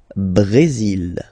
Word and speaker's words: Brésil: Le Brésil. Le Brésil. Okay, you will pronounce the final L here.